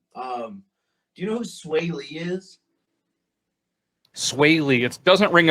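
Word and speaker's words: Swae Lee: there's there's one um do you know who sway lee is swayley it doesn't ring a bell but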